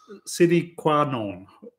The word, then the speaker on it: sine qua non: I've always had to double check how to say this, but yeah, it's sine qua non, which is not Spanish.